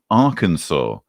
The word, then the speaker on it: Arkansas: In the 11 years from 2006 to 2016, it killed 232 in, and I now know how to pronounce it, Arkansas.